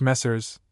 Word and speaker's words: Messrs.: Messrs. French messers, gentlemen, sirs.